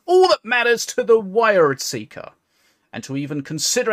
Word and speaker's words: Wyrd: that matters to the wired seeker and to even consider anything else would bring further shame okay it's pronounced weird weird science okay so we'll find